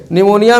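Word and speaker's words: pneumonia: ठीक है, निमोनिया में देखो इसकी अंग्रेजी में P लिखते हैं, इसमें P साइलेंट रहता है, तो ये निमोनिया P से लिखा जाता है।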